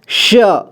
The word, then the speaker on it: श: उच्चारण को मेरा ध्यान दीजिए, श, श, स नहीं, श, ठीक है, इसे श पढ़ेंगे, श से शलगम।